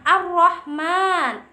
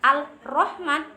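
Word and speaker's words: الرحمن: Contoh kalimatnya ar-Rahman ya, ada ar-Rahman, ada ar-Rahim. Itu adalah huruf syamsiyah, idgham syamsiyah. Alif lam bertemu dengan ro. Dibacanya bukan al-Rahman, bukan, salah. Ar-Rahman. Kita lebur menjadi huruf ro, si alnya ar-Rahman.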